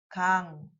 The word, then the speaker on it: 강: Tuy nhiên, khi bạn sử dụng nó như một phụ âm cuối, nó được phát âm là âm gốc. 'ㅇ'. Vì vậy, bạn nên đọc nó là '강, 강'.